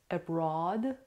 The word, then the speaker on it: abroad: The American pronunciation is abroad, abroad.